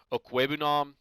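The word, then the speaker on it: Okwuegbunam: And then Albert O, I believe it's pronounced Okwebunam.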